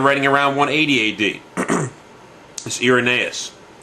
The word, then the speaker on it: Irenaeus: is Irenaeus. Or, as some say, I'm supposed to pronounce it as Irenaeus, or Irenaeus. So people pronounce it different ways. So I've always been taught Irenaeus.